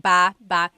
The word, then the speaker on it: baba: So depending on how you're saying it, it could be ba chin baba. Emphasis is on the first syllable. Baba. Then there's baba baba. Emphasis is on the second syllable syllable. That means to go down.